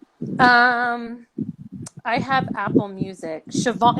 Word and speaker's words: Siobhan: Siobhan, it's pronounced Siobhan.